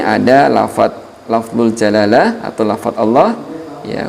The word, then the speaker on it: Allah: Saya ulangi, di sini ada lafzul jalalah atau lafaz Allah ya, huruf sebelumnya di kasrah, maka disebut dengan hukum bacaannya adalah dibaca tarqiq atau tipis.